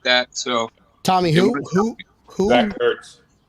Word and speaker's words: Ertz: Zach Ertz. right. Did you say Hertz? Ertz is a moving company.